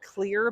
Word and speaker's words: Xlear: There's also a formula, it's called Clear, but it's spelled Xlear.